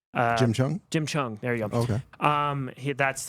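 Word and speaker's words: Jim Cheung: I don't know how to pronounce the name. Jim Chung? Jim Chung.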